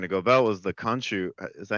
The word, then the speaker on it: Khonshu: how they're going to go about was the Khonshu. Is that how you pronounce his name? Yeah. Yeah, Khonshu.